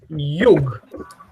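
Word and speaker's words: jug: We say yug. At the top, do you see it there? Yug. Yes. Definite form. Anyone can tell me the definite form? Yugo.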